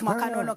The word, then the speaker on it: Makanonoka: Oh, we shall end this interview with one of his songs, Makanonoka. I hope I pronounced that one right. My Zimbabwean people, don't come for me. It's Makanonoka, right? I said it right.